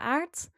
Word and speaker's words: Aert: I am Aert, which is not because it rhymes with art.